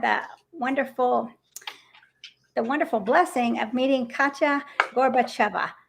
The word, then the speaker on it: Katya Gorbacheva: I went to Veg Fest a few months ago and I had the wonderful blessing of meeting Katya Gorbacheva. Maybe I said it wrong. No, you said it perfectly.